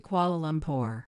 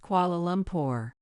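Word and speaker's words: Kuala Lumpur: when I grow up flight to qual lumor Lucas would shout running around with his tour airplane full of energy even Amy would correct him it's pronounced qualum poor and I marvelled at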